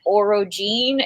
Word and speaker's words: orogene: One thing, orogeny is the pronunciation of like the power that people use, and then orogene is the pronunciation of the people with the power to use orogeny.